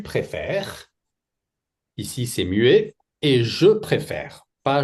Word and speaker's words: préfère: Ici c'est mué et je préfère pas je préférer.